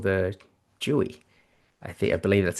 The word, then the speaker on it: Jui: So, it's Jouy. So, it's Jouy. Jouy. Jouy. Jouy. Yeah, exactly. Jouy. So, it's kind of sounds like joy but with a U.